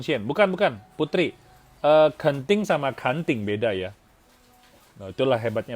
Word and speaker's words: Kanting: Oh Astuti ya benar Kanting Township betul. Itu bacanya kanting ya kanting.